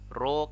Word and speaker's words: rho: Nah, nilai hambatan kawat itu nanti bisa kita rumuskan sebagai R sama dengan Rho kali L per A. Ini bacanya Rho ya, hambat jenis ini.